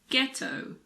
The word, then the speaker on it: ghetto: now the letter H if a word begins with G H the H is silent like in the words girin ghetto Ghost similarly if a word starts